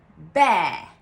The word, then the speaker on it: bear: That simply contains the sound air, like the Italian è aperta, air, air. The sound is simply the word air, air in British English. So it's pronounced bear, bear, like a sheep, bear.